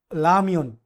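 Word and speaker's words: 라면: এটা কিন্তু আপনি রিওল কিন্তু প্রথমে কিন্তু বসলে কিন্তু জানে যে আমরা রর মতো উচ্চারণ হয়, কিন্তু কোরিয়াতে কোরিয়ানরা রিওলকে প্রথমে রর মতো উচ্চারণ করতে পারে না। এটা এই জন্য কিন্তু লামিয়ন অর্থ নুডলস। আপনার রিডিং যখন আপনার লিসেনিং শুনবেন, তখন কিন্তু আপনার এটা কিন্তু লামিয়ন শুনবেন।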